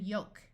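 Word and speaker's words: yolk: in Gold bolt and yoke notice the L in this word is silent we have also learned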